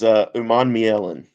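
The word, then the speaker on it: Umanmielen: So is it Human Milan? It's for Princely. I don't know how to pronounce. I know you know it better than I do. So It's Uman Mielen.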